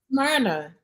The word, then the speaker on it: Smyrna: So Yvonne says she's in, how you say it, Smyrna? Smyrna.